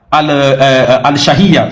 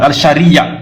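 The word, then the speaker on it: al-Shar'iyya: Ibn Tamiya, dans Al-Siyasa, Al-Shahiyya, je prononce mal, Al-Shariya, c'est comme ça.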